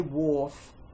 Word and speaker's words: wharf: And he was by a wharf. W, silent H, or as in wart, F.